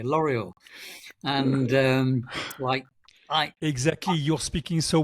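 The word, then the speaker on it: L'Oréal: I think it's L'Oreal, one of the perfume companies in France, where they had the French L'Oreal. No, we have to pronounce it British way. L'Oreal, and exactly.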